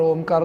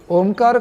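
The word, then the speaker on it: ओंकार: ओमकार का उच्चारण उ, अ, उ और म, और फिर जो म का पैर मुड़ा हुआ है उसको, तो वो चौथा यानी 3.5 मात्रा में हम करने वाले हैं।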